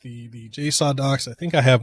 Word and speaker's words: JSAUX: The JSAUX docks, JSAUX, that's how they say, that's the correct way to pronounce it.